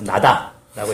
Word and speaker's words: NADA: 그래서 조선우주공간기술위원회를 국가우주개발국으로 확대 개편을 하는데 이게 참 재밌는 게 약칭이 NADA예요. 그래서 나다라고 읽어낸다.